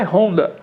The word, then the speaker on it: Honda: O nome, na verdade, em japonês, em inglês, em português é Honda. Né? Mas no Brasil nós temos o H mudo, né? De helicóptero, de hoje.